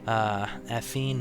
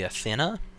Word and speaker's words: Athene: Athene Margulis. I think her name was actually Athena. So I've been pronouncing it wrong the entire time, but it just looks like Athene to me for some reason.